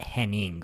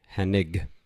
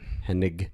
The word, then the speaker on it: Hennig: Now you got to get No second N. It's not Henning. All you idiots are always calling him Henning. His name was goddamn Kurt Hennig. Hennig. It's a hard G. Hennig.